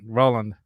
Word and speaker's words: Roland: you know anyway uh it's pronounced like the S right Roland all right Roland right on dude yeah